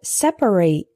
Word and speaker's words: separate: Our next heteronym is separate and separate. Separate is an adjective meaning apart or distinct. For example, there are separate bathrooms for men and women. Separate with three syllables is a verb referring to the action of setting things apart.